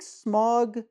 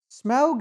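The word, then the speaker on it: Smaug: I just put that smug is more fun to say yeah and it's more of a name it feels more separate from the thing yeah so I'll try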